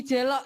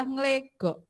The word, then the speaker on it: Nglegok: Jadi Bu Ita, oh ya, Bu Ita alamatnya bukan di Jelok ya. Itu bahasa bacanya adalah Nglegok. Saya kira yang dari Nglegok